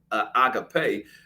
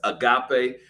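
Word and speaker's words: ἀγάπη: Well, it comes from the technical root agapao, but agape, many mispronounce it as agape.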